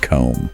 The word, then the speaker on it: comb: also gives this list of common words with silent letters yeah like Wednesday Island comb yeah Island that Des just seems so unnecessary